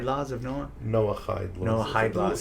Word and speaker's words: Noahide: And it just, when she said that, I'm like, oh, that's like the 7, I keep saying it wrong, the Eid laws of Noah? Noahide laws.